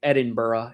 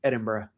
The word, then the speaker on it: Edinburgh: It's like when we go to Scotland, you can't say Edinburgh, it's Edinburgh.